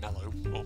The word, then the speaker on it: marshmallow: For some reason here in the UK we call it a mellow. Well, it's sort of pronounced almost a bit like it's an E, but...